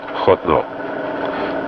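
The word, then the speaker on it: חֹתְנוֹ: The Vav was missing, or you can have a cholam, a dot on top, without the Vav, which would also be pronounced Chotno.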